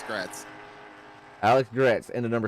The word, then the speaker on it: Gretz: here with me so Alex great I'm almost positive is how he told me to pronounce his name uh let Meir it's yeah it's gret Alex gretz into the